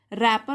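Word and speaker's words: wrapper: कि उसने बनाई थी, रैपर मतलब जो छिलका था चॉकलेट का, डब्लू साइलेंट है इसमें, रैपर ऑफ द चॉकलेट,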